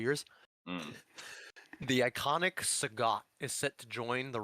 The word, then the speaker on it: Sagat: Like I always called him Saget, like Bob Saget. Sagat, yeah.